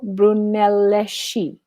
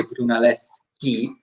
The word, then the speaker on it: Brunelleschi: dome blank by Filippo Brunelleschi. Oh my God, I can never pronounce these names. I know my. I think in Italian, don't they say Brunelleschi? But in America, in English, we say Brunelleschi.